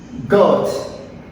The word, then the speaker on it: goat: hatchling, nymph, larva, duckling, goat. Moi pas prononcer A. This is a silent letter. Goat.